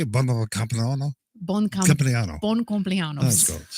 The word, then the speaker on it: compleanno: How do you say buon compleanno?